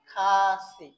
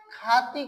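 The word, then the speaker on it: 카시: তাহলে উচ্চারণটা কি হবে? খাসি। আমরা যারা এটা উচ্চারণ খাতি করি বা খাথি করি, সেই খাতি করার আর কোনো কারণ থাকবে না। যে উচ্চারণ এটা উচ্চারণটা কি খাতি বলবেন তার উচ্চারণটা কি ভুল হয়ে যাবে।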